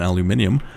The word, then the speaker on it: aluminium: I believe that is aluminium let's say and you may wonder why switch pronunciation between Al aluminum and aluminium uh it's because I think aluminium sounds better and I sometimes just